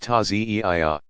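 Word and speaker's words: Ta'ziyeh: In more traditional Shi'i villages, people still gather to reenact the events in a passion play called the Taziyah, pronounced Taziyah.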